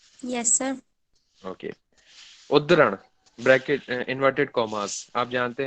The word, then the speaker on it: उद्धरण: याद रखिएगा हिंदी वाले, थोड़ा सा टफ है इसका प्रोनाउंसिएशन, लेकिन आपको याद रखना पड़ेगा, उद्धरण, ठीक है।